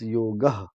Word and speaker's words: yoga: and in Sanskrit the last uh, consonant is completely voiced Okay. along with the vowel, so it's yoga.